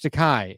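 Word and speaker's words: Takei: His book is called George Takai. It rhymes with Tai.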